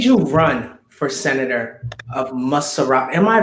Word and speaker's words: Montserrado: TUKPAH, may I ask you, what made you run for senator of MONTSERRODO? Am I pronouncing that right? MONTSERRODO County.